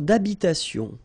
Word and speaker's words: d'habitation: Une tour d'habitation. Remember, H doesn't exist in French, well, in most of the cases. So it does mean that you don't pronounce it.